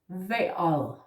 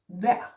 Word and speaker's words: vejr: Now, I would recommend that you start with the indefinite form first, vejr. Never mind the R, yeah? Just say vejr.